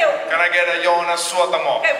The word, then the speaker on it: Jonas Suotamo: You pronounce every word in Finland. There's no Finnish has no silent letters. No. We don't silence our letters. We want it all in there. Every letter counts.